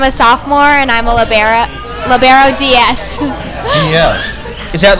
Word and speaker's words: libero: So I pronounce it libero. The word is Italian and it means free, and so pronunciation in Italian would be libero. So that's why I pronounce it that way.